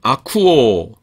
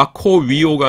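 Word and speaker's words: ἀκούω: 그다음 아쿠오 듣니다. 이것도 아 아 아코위오가 아니라 오미크론 입실론이 중무험이죠. 그래서 우 발음이 납니다.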